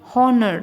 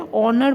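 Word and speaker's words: honour: भी आप जानते हो जैसे कि हनर नहीं बोलते हम क्या बोलते हैं ऑनर बोलते हैं तो जब हम लिखते हैं h ओ एन ओ यू आर ऑनर लिखते हैं तो हम प्रोनाउंस करते हैं ओ एओ यू आर जबकि ये ए कॉन्सोनेंट है फिर भी हम ओ से ही प्रोनाउंस करते हैं तो ये ए साइलेंट है तो वहां पर यह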